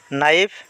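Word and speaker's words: knife: silent বর্ণ তার পিছ নাইফ নাইফ মানে কটারি ইয়াতে কে এর উচ্চারণ হওয়া নাই কে সাইলেন্ট বর্ণ নি মানে আঠু ইয়াতে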